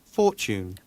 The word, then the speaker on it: fortune: Fortune. fortune. 자, fortune이죠. 요거는 행운이란 뜻인데 약간 tu 붙어 있는 것들은 약간 추에 가깝게 발음이 돼요.